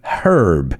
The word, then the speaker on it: herb: Just be careful because the British, they say herb. They pronounce that H. We don't in English. I mean in real English, in American English.